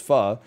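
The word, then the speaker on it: pho: that's rich in cilantro they go oh you mean fo and then you have to be the snob who is like well actually is pronounced fa so i said i'm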